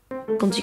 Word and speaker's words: quand il: On remarque que le D de « quand » se prononce presque comme un T. Quand il, et non pas quand il.